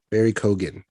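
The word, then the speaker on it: Barry Keoghan: Barry Kogan.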